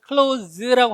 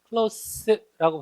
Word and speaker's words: close: 두 번째는 얘를 발음을 close라고 하는 게 아니에요. close는 동사일 때 닿다. close라고 발음하면 형용사로 가까운, 부사로 가깝게, 가까이가 됩니다.